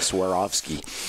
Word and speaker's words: Swarovski: how to pronounce it it's like swear off skiing which were Oskie yeah that's Cavour ski it's not it's a Swarovski yeah I mean nobody